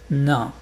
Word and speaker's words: nain: Nain. Pour lire ça, tu penses qu'il y a pas de a.